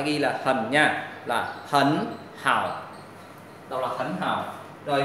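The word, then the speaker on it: 很好: Các em thấy này, thanh ba và thanh ba mình đọc là hần hào rất là khó nghe, bởi vậy là người ta sẽ biến là hai chữ này đi chung với nhau là thanh ba thì sẽ đọc là hấn hào, hấn hào.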